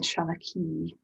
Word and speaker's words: Seanachaí: in the chat shalaki so shan s-e-a-n is means old um and then shanaki that's a father the accent on the i makes it go e at the end and there are different